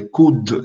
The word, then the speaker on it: coude: Le coude. Esse dele está aqui porque ele é pronunciado. Por isso que ele está aqui.